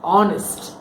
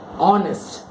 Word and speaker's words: honest: is been pronounced wrong honest o n est okay so H is your H is silent honest the first letter is